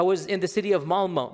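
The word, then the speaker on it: Malmö: And in Stockholm, if you have 10% Muslim, I was in the city of Malma. Malma, it's is spelled with an O, but it's pronounced Malma.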